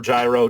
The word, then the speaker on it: Gyro: Jiro in Steel Ball Rung is or Gyro, depending on how you want to pronounce it, is technically Caesar.